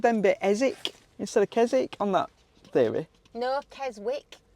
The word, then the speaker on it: Keswick: put silent letters in I think it's KZ it's like knife beginning with a K it makes absolutely no sense whatsoever does it it's it's spelled Keswick Keswick but but I know because people have said it it's kezic isn't it so why is it